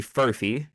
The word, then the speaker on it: Furphy: We got Johnny Furphy. Crazy last name, by the way. I've never seen this before in my life. What do you mean? Like it's Murphy, but with an F.